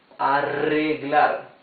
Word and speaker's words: arreglar: Now, when the R is doubled in the middle of a word, it's the same rough sound as the R at the beginning of the word. So this would be arreglar.